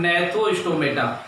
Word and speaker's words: Gnathostomata: और दूसरा डिवीजन स्थान नेहरु स्टोमेटा जी साइलेंट रहता है नेट तो संभव था